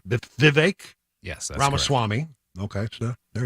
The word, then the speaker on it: Vivek: vague I was told you pronounce it like Viv cake like the word cake with Vivek yes ramaswamy okay so